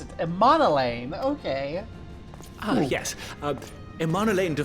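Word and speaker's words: Emmanellain: Lord Amonelane! Is that how you pronounce it? Emonelane.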